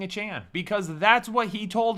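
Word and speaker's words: Achane: But last year, before the season started, he said you pronounce my name a Chan, like a Chan.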